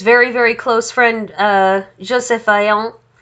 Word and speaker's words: Vaillant: very close friend, Joseph Vaillant. They're both French, which is why I am trying my best to sound Frenchy when I pronounce their names.